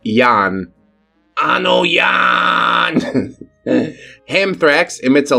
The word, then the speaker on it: Jan: It's spelled j an pronounced like yan.